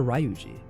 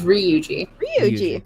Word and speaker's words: Ryuji: what I'm doing ruji is he ryuji or ruji he's ryuji okay I don't know if